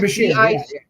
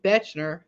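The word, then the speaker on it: Bichir: And Deadline reports tonight that Damien Bechner, that's how you say it? Bashir.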